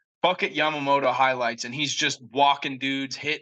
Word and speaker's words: Yamamoto: is given up I'm sorry I I can't pronounce his name Yamoto Yamamoto yam yam mamoto okay yeah M moto yep Yamamoto Yamamoto highlights and he's just walking dudes hitting dudes